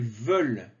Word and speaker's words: veulent: voulons, vous voulez, ils veulent. Donc le ENT ne se prononce pas. Ils veulent.